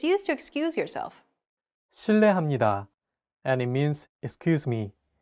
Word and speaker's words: 실례합니다: R and an L, don't pronounce it like an English R. Listen to how J is pronouncing this sound. L. It sounds like a mixture between an R and an L sound.